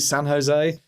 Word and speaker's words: San Jose: so much for joining us from the beautiful San Jose is that how you pronounce it San Jose it is yeah in in California where for